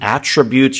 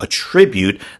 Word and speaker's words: attribute: 자, 여기서는 동사이기 때문에요. attribute. 이렇게 발음을 하게 되는데 만약에 명사이면서 이 똑같은 스펠링 attribute를 쓰면 attribute라고 해서 어떤 것의 특징을 얘기합니다.